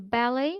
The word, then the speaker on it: ballet: In ballet, обратите внимание, произносится без окончания «ты».